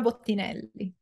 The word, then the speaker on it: Bottinelli: I butchered it on the how do you pronounce? Bottinelli.